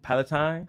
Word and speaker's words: Palatine: How you pronounce it? Palatine.